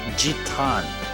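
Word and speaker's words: ジタン: It's actually Zadon coupled with the Japanese version of his name is Jitan. Jon J I T A N. No D anywhere. It's just a T.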